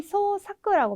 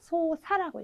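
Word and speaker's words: 操作: 근데 이제 조작이라고 하면 흔히 소사크라고 많이 읽으세요. 근데 소사크가 아니라 네, 조작이라고 하는 경우에도 소사라고 읽어주셔야 된다는 거. 우리 동작 하실 때도 보시면 노사라고 읽어주셔야 되는 거랑 마찬가지로 네, 사라는 발음 기억을 해주시면 되겠고요.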